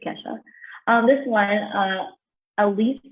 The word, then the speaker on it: Kesha: kickstart video she's like most people say it's not keisha not ketchup it's kesha it was kind of